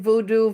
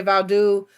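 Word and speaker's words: Vodou: African witchcraft, which included voodoo, Vaudu, however you want to pronounce it. Haitians say Vaudu, and brought here and forced into slavery and Christianity.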